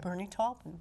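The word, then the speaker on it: Bernie Taupin: get on what what do you know about Bernie toen is that how you pronounce his name Bernie tolpin okay he he wrote a song um sweet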